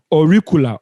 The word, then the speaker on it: auricular: or ocular auricular sorry auricular auricular or recoil that is yeah around the ear or recoil please get the pronunciation right auricula a-u-r-i-c-u-l-e-r auricular branch of the occipital artery